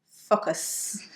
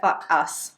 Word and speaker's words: focus: focus, you could say focus. Or worse, if it's really clear, fuck us. Fuck us. Or so just be careful. It can sound like you're almost saying fuck us.